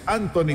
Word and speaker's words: Antonie: Indudablemente, para los holandeses, lo han indicado desde el coche del director deportivo, se pronuncia en holandés Anthony, se escribe Antonie. Así lo pronunciaremos de aquí en adelante. Anthony Van Noppen, mi estimado Orlando, ¿qué estás tomando?